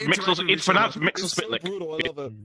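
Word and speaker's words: Mxyzptlk: It's pronounced Mixel Spitlick.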